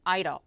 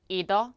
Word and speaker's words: either: either 또는 either 둘 다 가능하다라는 거 한번 정리하고 가실게요.